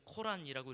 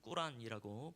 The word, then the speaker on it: 꾸란: 보통 이제 우리가 배울 땐 코란이라고 이렇게 배웠지만 이제 정확한 발음은 꾸란이라고 보시면 되겠습니다.